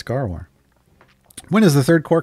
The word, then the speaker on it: Gaarawarr: out but yeah it's phonetic it's gar war when is the third